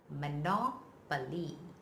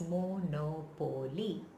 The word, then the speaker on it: monopoly: bears the stress well the stress is on the second coat so the nine